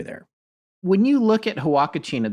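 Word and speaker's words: Huacachina: when you look at hawakachina this is spelled h-u-a-c-a-c-h-i-n-a when you look at this online you look up at the hawakashina Oasis it is the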